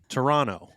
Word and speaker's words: Toronto: Toronto. No second T. Toronto.